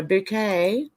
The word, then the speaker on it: Bucket: oh yeah Mrs bouquet it's spelled bucket but she yes no bouquet oh another one David